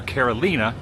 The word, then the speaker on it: La Carolina: church here at La Carolina or Carolina not Carolina Carolina is how you would pronounce it in the US we know we know